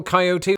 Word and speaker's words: coyote: each of those occasions I never fail to pronounce it with three syllables but as I discovered